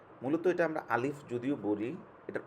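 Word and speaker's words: باء: বা হচ্ছে যে আমরা বা দুইটা ঠোঁট একসাথে লাগাবেন, লাগিয়ে হচ্ছে এই বা, বা, বা, বা, বা, জি, বা, এরকম আপনারা দেখেন বা, দুই ঠোঁট একত্র করে বা, বা, বা, আলিফ, বা, বা।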